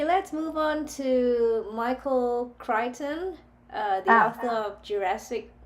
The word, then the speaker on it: Crichton: Michael Crichton.